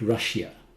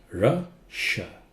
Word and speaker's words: Russia: Russia. Not Russia. Russia. Russia. SH sound.